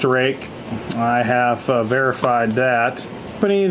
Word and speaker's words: RUIKE: are making knives a knife manufacturer and it's pronounced rake it's Rui ke I don't know what in